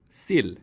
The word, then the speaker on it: sill: For example, the E vowel can be either long, E, or short, I. Sil. Sill.